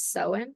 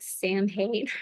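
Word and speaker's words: Samhain: Um, did you know I didn't even know how to pronounce Sowen, like Sowen? I thought it was like Sam Hain or whatever.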